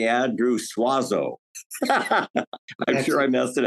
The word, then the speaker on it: Suozzo: going to say Andrew suazo I'm sure I messed it out that's exactly how my family has anglicized it if we were Italian